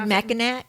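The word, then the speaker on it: Mackinaw: spelling for the island maol city is m a c k i n a w right but they're both pronounced Ma so I unless unless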